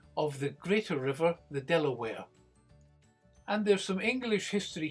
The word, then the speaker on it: De La Warr: However, she eventually settled down, and her great-grandson was this man, Baron de la Warre, pronounced Delaware.